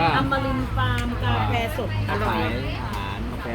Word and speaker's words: อัมรินทร์: หลัง อ ระยอง ระยอง อ่าน ว่า อำมริน ฟาร์ม กาแฟ สด อร่อย